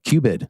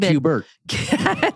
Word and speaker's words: QBID: The qualified business income deduction, Sarah, QBID. Yes, QBID. Not QBIRT. Right, QBID. That is the 20%.